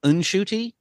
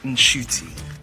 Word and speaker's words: Ncuti: My name is pronounced inshooty. It's like an inshy.